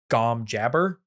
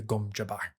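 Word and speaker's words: gom jabbar: very happy to see no one pronounced it gom jabber the uh the reverend mother didn't say that because that is of course just an inherently funny thing to say yeah she instead pronounced it i hold it your neck the gum jabar you know i felt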